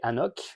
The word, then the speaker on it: AnCnoc: magnifique ski donc c'est Anok 24 ans ça s'écrit bizarre ça s'écrit annok mais ça le N et le C ne se prononce pas donc c'est Anok la disérie de noandou